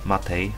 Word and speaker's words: MATE: Ci, którzy są zainteresowani środowiskami graficznymi, mogą sobie wybrać GNOME, XFCE, KDE, Cinnamon, Mate, Matei, ale tak to się wymawia w sumie poprawnie, i środowisko LXDE.